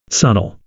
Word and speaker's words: subtle: Had a friend that pronounced the B in subtle.